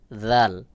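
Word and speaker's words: ذال: এরপরে রয়েছে জাল। জাল এবং সা মুখের একই জায়গা থেকে উচ্চারণ হয়, তবে জালের উচ্চারণ পাতলা করে উচ্চারণ হবে, যেমন জাল জাল।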